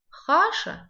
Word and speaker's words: хаша: Хаша, среда, пишется, как слышится, «х» читается тверже, чем в русском языке. Хаша, грубо читается.